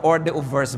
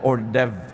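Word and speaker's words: hors d'oeuvre: ba hindi niyo alam kung ano ba to orde verse ba ito Hindi natin alam ordev pala ito o kung ano man Ba't h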